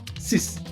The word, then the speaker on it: six: Six in French is sis. Sis.